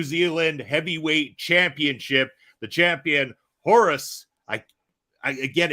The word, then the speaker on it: Horus: In Spanish it's Orus, but here it is Horus.